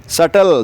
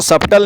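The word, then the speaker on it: subtle: फिर आता है सटल। सटल मतलब बहुत ही बारीक। सो जैसे सटल डिटेल्स। किसी चीज की बहुत ही बारीक डिटेल। तो उसको सबटल नहीं कहते। इसमें आपका बी साइलेंट है।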